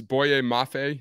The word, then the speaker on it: Boye Mafe: um 30 to chiefs boye mafe that's how you pronounce it yep that's exactly right edge minnesota that's a